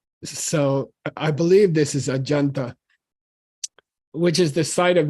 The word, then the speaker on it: Ajanta: Tibetan is saying that this Sanskrit Jay should be pronounced like Raja means king and uh that's actually more correct so I believe this is ajanta which is the site